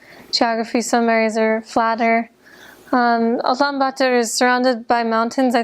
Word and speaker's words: Ulaanbaatar: I was only in the capital city, which is in Mongolian pronounced Ulaanbaatar, and I was there because I had to teach English there at a university, so I taught only in the city.